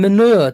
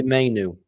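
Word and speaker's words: Mainoo: Stop calling him manure, Dermo. I told you. I called him Manu. Oh yeah, I keep getting manure. His name wrong. What actually is his name? Kobe Mainu. Mainu. Yeah. That's what I said, Mainu.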